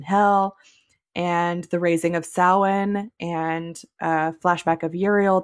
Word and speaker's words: Samhain: said, please, please don't pronounce what is usually pronounced Samhain as that. Pronounce it Samhain, which is the correct way to pronounce it.